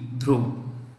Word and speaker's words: Dhruv: helicopter named dhruv d h r u v drove which the following has launched the ammo body